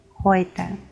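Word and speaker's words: heute: Буквосполучення EU дає нам звук Ой. Ной, Хойте.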